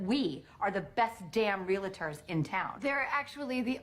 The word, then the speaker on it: Realtor: promise you that we are the best damn realtors in town they're actually the only realtors in town because the rest of us pronounce it Realtors yeah it's Realtors that's what